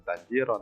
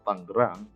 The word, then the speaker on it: Tangerang: Nah, sekalipun tulisannya Tanjiron, kalian bacanya jangan Tanjiron, tapi tetap Tangerang.